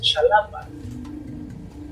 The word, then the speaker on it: Xalapa: Y así no es Jalapa, es Xalapa. Y entonces van a encontrar muchas las cosas. La X no se pronuncia como S.